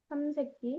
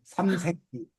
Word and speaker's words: 삼색기: 불러 그러면 프랑스 국기는 삼세끼 끼 아 발음 잘해야 돼 삼색기 아 삼 새끼인데 어